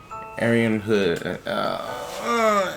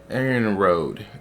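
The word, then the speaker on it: Arianrhod: Arian Hood. Is it really Arian Hood? Arian Road.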